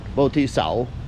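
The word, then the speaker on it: Võ Thị Sáu: Boti Sao, that's how you say it.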